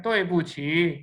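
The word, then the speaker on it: 对不起: this is तोए पूछी, आप देख रहे हो मेरे टून्स डिफरेंट है, तोए पे फॉलिंग है, ऊ पे बस न्यूट्रल है, छी राइजिंग, फॉलिंग राइजिंग है, ठीक है, तोए पूछी मीन्स आपको पहले प्रोनाउंस करना सही आना चाहिए, उसके बाद आपको मतलब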